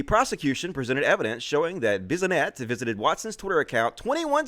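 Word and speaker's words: Bissonnette: His Twitter account was among a handful of far-right accounts frequented by Alexander Bisonette. That's how you pronounce it.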